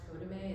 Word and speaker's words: CODAME: Yeah, and actually, so this is part of a month-long series for, it's pronounced CODAME, it's CODAME, CODAME.